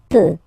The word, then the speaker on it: peut: Then il, elle peut. So you will put T at the end, you don't pronounce it.